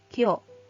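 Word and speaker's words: 今日: Tapi kalau misalnya dia digabungkan dengan kanji nichi atau kanji hari menjadi hari ini, kyo, kyo. Kemudian apabila dia digabungkan dengan kanji pagi menjadi kesa. Kesa dibacanya kea, kesa pagi ini.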